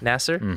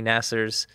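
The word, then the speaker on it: Nassar: Nasser.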